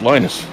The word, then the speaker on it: Linus: Well, for example, the creator of like Linux. when I had. Yeah, it's Linus. He calls himself Linus. Well, then he's wrong.